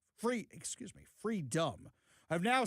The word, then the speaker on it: Freedom: Because a few famous sports stars like Enis Freedman, Free, excuse me, Freedom, have now said I I've butchered his name like 10,000 times during the show today.